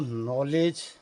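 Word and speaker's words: knowledge: 7, 8 में, तो नॉलेज शब्द के आगे स्पेलिंग में के लगी हूँ, तो कनॉलेज पढ़ने रहे हैं। कनॉलेज के उसमें साइलेंट ठहरा, नॉलेज वाली बात कही जाने वाली।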